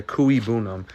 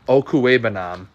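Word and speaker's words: Okwuegbunam: I was saying it wrong from the Missouri days where all those announcers when he was at Missouri would say Okuigbunam, and it's Okuebanam, the tight end.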